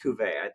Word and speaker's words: Cuvée: Couvray, no, Yeah. French Cuvée.